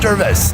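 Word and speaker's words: hors d'oeuvres: that like a wh deris or der is it singular there is an S but the S is silent you went to French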